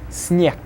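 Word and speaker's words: снег: Then the next one, sneg, will be sneg.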